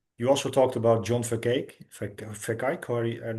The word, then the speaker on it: Vervaeke: You also talked about John Verkijk, or I'm not sure how to pronounce it. Yeah, Yeah. Vervaeke.